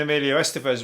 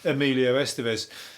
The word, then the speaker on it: Emilio Estevez: were funny as that's when emilia estevez was doing the doing the rounds top of